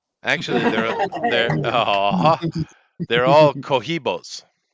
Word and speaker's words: Cohiba: Actually, they're all cohibos. Kohiba. Cohiba. Is that how you say it? Kohiba.